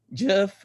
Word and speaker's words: Geoff: So I would like to introduce Geoff Reese. Thank you so much Nice. to be here tonight. Awesome. You said it the right way.